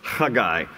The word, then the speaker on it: Haggai: of the minor prophets his name in Hebrew is spelled with a CH it just as that rough sound so it's a guy the guy is his name it's from the Hebrew